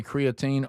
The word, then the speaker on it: creatine: The American way of saying it is creatine.